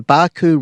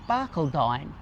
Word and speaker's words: Barcaldine: If you're travelling through Blackall and you need somewhere to stay, the Barcaldine River camping area is a donation camp and is $10 a night.